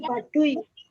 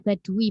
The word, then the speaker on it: Baduy: Bacanya Baduy, bukan Baduy.